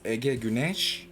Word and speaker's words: Ege Güneş: It's pronounced as Ege Güneş, EGE. Last name is Gunes.